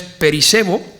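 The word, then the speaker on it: περισσεύω: El término mayor, en este versículo, que su pronunciación es perisebo, indica una superación radical de la justicia meramente ritual.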